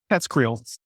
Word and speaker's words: TESCREAL: How do we say it? TESCREAL. There we go. There is no right way to say it. That's the way I say it.